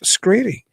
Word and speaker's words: Skrede: So, I'm delighted to welcome to Talking Weird the wonderful Zack Screedy.